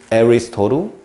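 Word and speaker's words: Aristotle: 아리스토텔레스는요.에 에리스토루 발음 영어 발음 에리스토루 이렇게 쓰죠.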